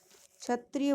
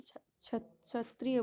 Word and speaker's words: क्षत्रिय: क्षत्रिय बोलेंगे, के जो है साइलेंट है, ठीक है। पिछली क्लास में जो है मैं प्रोनाउंस नहीं कर पाई थी, इसे क्षत्रिय बोलेंगे, ठीक है।